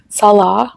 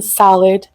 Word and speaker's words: Salah: go after my family they mispronounced my Syrian husband's name Salah which means prayer in Islam by the way they call him solid right in her thumbnails